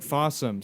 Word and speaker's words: Fawesome: But It's spelled like awesome, but with an F. But Fawesome.